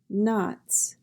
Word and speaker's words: knots: Knots. N-a-t-s, knots. The K is silent.